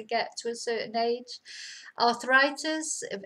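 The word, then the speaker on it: artritis: Arthritis. Again, similar word but pronounced completely differently. La arthritis.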